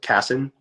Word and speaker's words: Kassan: Just Kassan. Kassan. Okay. So Kassan. Yeah. the accent is on the first syllable, Kassan.